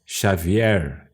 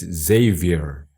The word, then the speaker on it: Xavier: My name is not Xavier, as in Portuguese. My name's Xavier.